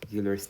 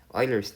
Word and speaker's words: Euler: number uh i'm sorry euler's number i used to pronounce this as euler but i realized that um you pronounce it as euler's number euler as in it's a german surname uh your euler's number